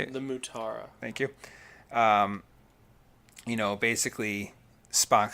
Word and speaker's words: Mutara: In the nebula, the Matara Nebula, is how you say it? The Mutara.